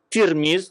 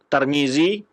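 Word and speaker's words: ترمذ: Tirmiz itu berbeda-beda cara baca. Ada yang membaca Tirmiz dengan baris di bawah tanya, ada yang baris di atas Tarmizi, Tirmizi atau Turmuz. Tapi yang masyhur dibaca adalah Tirmiz.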